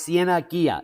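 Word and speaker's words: Cieneguilla: get up to speed pronounce siena ghia in english which means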